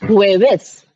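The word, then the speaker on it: jueves: एक बार थर्सडे की प्रोनाउंसिएशन बता हुए बेस हुए बेस क्योंकि वी है स्पेलिंग है जे यू ई वी ई एस हुवेस हुए तो हुए वी का साउंड आएगावस ठीक है एक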